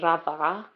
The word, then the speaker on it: Radha: My actual name, my first name is Radha. A lot of people find it very hard to say. It's spelled Romeo Alpha Delta Hotel Alpha.